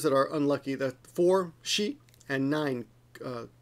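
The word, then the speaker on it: 死: horses there you go that kanji there is she which means she which means death and this is also this is yon whoops which is also pronounced as she if you if I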